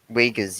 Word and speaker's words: Uyghurs: Can you pronounce the word for me, please? Oh Uyghurs? god, this is Uyghurs, yeah, Uyghurs.